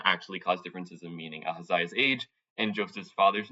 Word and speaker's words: Ahaziah: like the age of Ahaziah, sorry if I pronounced that wrong, 22 or 42, or Josh's father's name, Heli or Jacob? So it's pronounced Ahaziah, but that's okay.